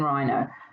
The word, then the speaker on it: rhino: sounds in rhino have you worked out the silent letter in this word what is it again yeah it's the silent h and in this word rhino the rh will go together to make that graphene for er i know let's have